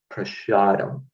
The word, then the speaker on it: prasadam: he would pronounce prasad, he would pronounce it in the Bengali way, prasadam.